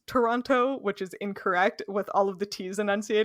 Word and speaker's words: Toronto: it's like one syllable you only pronounce one t if you're lucky usually it's a CH yep but yeah Toronto